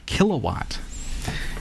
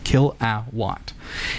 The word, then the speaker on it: Kill A Watt: this device called a kilowatt and a kilowatt it's spelled k i l kill D A- watt for Watts right Kill A Watt and this device uh